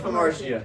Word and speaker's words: Hamartia: Yeah, Jesus of Hamartia.